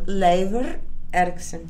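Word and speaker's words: Leifur Eiríksson: And was that Leif Erikson? Leifur Erikson.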